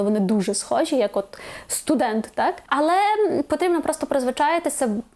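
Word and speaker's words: student: Тобто, наприклад, не уліця, як би нам хотіли сказати, а уліця. Не студент, а студент.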